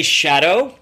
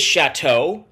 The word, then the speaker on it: Shatto: options uh it is chateau as in big french house um so that's that's